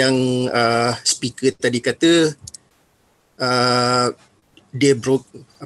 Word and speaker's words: de Broglie: electron microscope seperti yang ah pikir tadi kata debruk pronounciationnya bensin selalu sebut De broglie tapi dia cakep Friends dia Nduk Hai dengar-dengar